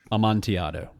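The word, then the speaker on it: amontillado: amti oh amonti amti don't pronounce the Double L don't no L's Amanti secondary maturation and ex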